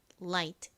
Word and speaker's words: light: 소리가납니다이 에를 발하 때에는 혀를 앞니 뒤에 붙혔다가 떼면서 라라 light light 이렇게 발음해 주시면 됩니다 발음